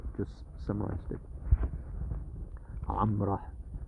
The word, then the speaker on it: Gomorrah: Sodom and Gomorrah just summarized it. Amrah is how they would pronounce Gomorrah.